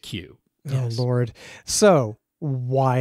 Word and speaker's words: Cu: But I think they pronounce it Q.